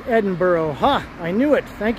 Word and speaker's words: Edinburgh: way to Megan's house hurray hurray it is pronounced Edinburgh ha I knew it thank you Bay City